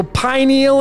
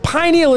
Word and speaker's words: pineal: So pineal is a two-syllable word, pi and neal. And remember, it's pineal is pi.